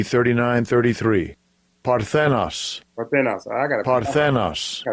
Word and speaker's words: Parthenos: Okay, so you see, the Greek word Parthenos comes from the word, what comes from the Greek god, who is Athena Parthenos, who's an actual virgin in the mythology.